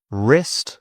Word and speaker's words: wrist: Wrist, this is my wrist.